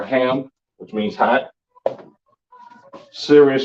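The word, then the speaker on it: חם: Africa you understand um pronounced come in the Hebrew um surviving right now of course with the Africans and all right come or ham which means hot serious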